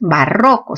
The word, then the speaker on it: barroco: barroco o barroco claro lo correcto es barroco sílaba tónica rock entonces es una palabra